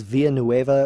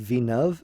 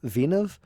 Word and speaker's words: Villeneuve: dennis i think it's i thought it was via nueva at first but i think it's pronounced vinov vinov i think it's french so it's like venus or something uh and it's based